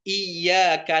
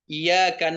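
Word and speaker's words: إِيَّاكَ: Tapi kalau enggak dibaca tasdidnya dengan sempurna atau hilang tasydidnya sehingga bacanya iyaka na'budu wa iyaka nastain artinya hanya kepada cahaya kami menyembah dan hanya kepada cahaya kami minta tolong merubah makna dan arti jadinya.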